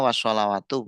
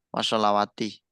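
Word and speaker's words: والصلوات: Makanya bacanya wasalawatu bukan wasalawati.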